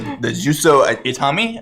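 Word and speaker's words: Juzo Itami: Yeah, this film is based on the Juso Itami, that's how you say it, film Tampopo, which I watched over quarantine.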